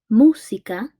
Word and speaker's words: música: in a second okay so música as you can música has a stressed syllable in de música thus that makes it a blah blah is Trula why because the stress syllable is dr.